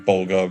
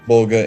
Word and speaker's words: Vulga: Mecha Godzilla poster and Bulga Vulga, however you want to pronounce it. It's Vulga in game. I think it was announced as Vulga.